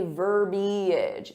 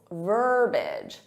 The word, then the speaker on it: verbiage: So native speakers will say verbiage, eage. So they add that extra syllable, verbiage. You can hear that extra syllable in this clip. Let's listen now. Oh, there's that classy verbiage I love so much. Oh, there's that classy verbiage I love so much. But there should only be 2 syllables, verbiage, verbiage.